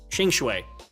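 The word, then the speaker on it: Qingque: it no uh yeah both cues are pronounced Ching sh oh it's ching ching right chingue got it got it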